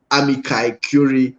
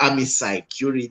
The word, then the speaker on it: amici curiae: when it comes to amici curiae or amici curiae, depending on how you want to pronounce it.